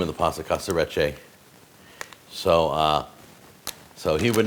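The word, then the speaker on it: Casarecce: the show, and he said this is called Casaretche. That's the name of the pasta, Casaretche.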